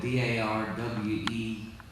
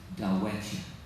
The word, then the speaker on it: Darwettia: I believe the Choctaw would pronounce it Darwettia. But of course, you know, you let a bunch of Okies get a hold of it and they turn it into Darwettia.